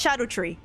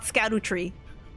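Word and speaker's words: Scadutree: Apparently it's pronounced Shadow Tree, and not Scadu Tree.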